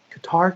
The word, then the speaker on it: Qatar: Sorry, Qatar is ready. That's how you say it correctly, my bad.